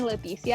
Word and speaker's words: Leticia: well it's actually like my mom calls me lithia and people try to say it that way and they just can't and so it's like leticia is just the easiest way it's how i say my name myself um just don't try to say it yeah okay like the th like a spanish th or like uh yeah